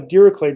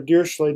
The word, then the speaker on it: Dirichlet: So, beta distribution is actually a special case of a Dirichlet distribution or a Dirichlet distribution. It's uh I hear it uh pronounced both both ways.